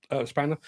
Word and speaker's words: X-Spanner: I know it says X-Spanner, but it's pronounced Spanner.